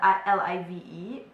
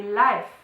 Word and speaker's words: live: word which is and it is spelled l i v e but we mispronounce it in German and we say life instead of live okay so means the